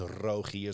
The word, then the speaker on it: Rogier: My mom says Rogier, so like it's more in the front of the mouth. But like I grew up with the hard G here, and then people be like, "Well, that's just."